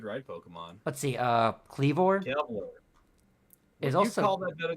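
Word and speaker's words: Kleavor: up not like ended up liking Sor liking kelv more than Scizor it's pronounced cleor but I I can see liking CLE more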